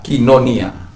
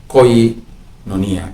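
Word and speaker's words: κοινωνία: Jadi koinonia menjadi kinonia.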